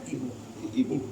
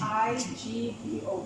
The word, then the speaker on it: Igbo: I-G-B-O. No. Or is it B-O? Yeah, There was a B. Yeah, there was a B. So, and then that's the Igbo. So the G is silent.